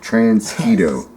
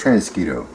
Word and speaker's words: Transquito: Beast Wars evil Predacon transgito yes not mosquito transketo okay we're going to